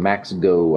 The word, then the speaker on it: MAXKGO: Z battery Solutions and one from Mexico I think is how you pronounce it I did open the